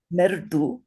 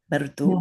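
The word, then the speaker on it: मृदु: Do you see that little dot under the R? That means it's a vowel.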